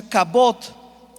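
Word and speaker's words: כבוד: apuntando la palabra gloria en hebreo se escribe o se pronuncia cabot y en griego es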